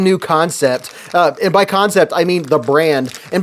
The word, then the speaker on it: Kansept: some folks get confused it's spelled k a an Sepp but it's just a spin it's called concept this is the concept